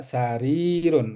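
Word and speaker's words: سرير: Hadza sarirun. Rinya panjang ya karena ada kasrah berhadapan dengan ya. Jadi hadza sarirun ya.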